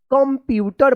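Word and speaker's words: computer: पी यू टी ई आर क्या पढ़ेंगे इसको कंप्यूटर पढ़ेंगे कंप्यूटर तो देखिए सुमन लाइक्स टू यूज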